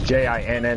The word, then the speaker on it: jinn: So they're talking about D-J-I-N-N gin, right? Yeah, well, archons is it's J-I-N-N, and then they have they have in the quotations D-G-I-N-N.